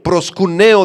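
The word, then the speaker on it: προσκυνέω: La palabra adoración en el versículo 4 que aparece ahí es la palabra griega proscuneo. Proscuneo del griego con cada acento en la e.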